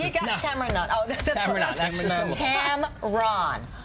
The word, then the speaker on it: Tamron: got Tamar oh Tam Tamron Tam Ron run like run Tam Ron okay Tam